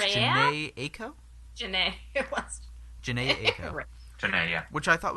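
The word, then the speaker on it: Jhené Aiko: Next was the song, Hold On We're Going Home acoustic, and From Time featuring, I think, how you pronounce this, Janae Aiko? Janae, it was. Janae Aiko.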